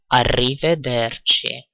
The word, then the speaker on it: arrivederci: say : "arrivederci" again "arrivederci" - arri - veder - chi again the "ci" is like "ch" in English so chi, and if you want